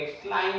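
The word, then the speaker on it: climb: thumb पढ़ेंगे क्लाइम हो जाएगा बी नहीं पढ़ेंगे कम हो जाएगा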